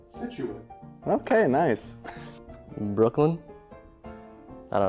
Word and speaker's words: Situate: It is pronounced Situate.